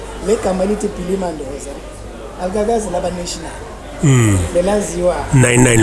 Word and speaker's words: Mandoza: Pronunciation Kanjani? Was Mandoza, not Mendoza.